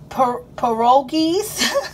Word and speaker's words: pierogi: Spinach and white cheddar pierogies.